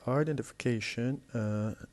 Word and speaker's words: identification: We have identification, and the word identification is composed of 6 different syllables, and the one that has the stress is the one before the last, the 5th syllable, identification.